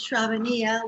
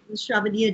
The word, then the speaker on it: Shravaniya: I guess my name is Shravaniya, which rhymes with Mamma Mia, so it's not that hard to pronounce. And Shravaniya, and I'm a initiated disciple of His Divine Grace A.C.